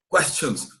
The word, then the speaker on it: questions: Você não pode falar questions. Quem fala questions é brasileiro. Question. A gente que vai falar legal, você pronuncia o N. Questions. Ó, falei o N.